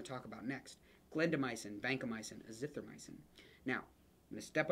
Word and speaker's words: azithromycin: Clindamycin, vancomycin, azithromycin. Now, I'm going to step on a soapbox here and say, it is not, there's no O in this at the end. It's not myosin, it's azithromycin.